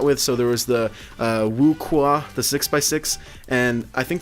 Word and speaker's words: WuQue: I was calling it like the WuQue or something like that. I don't know. But it's actually pronounced the WuQue.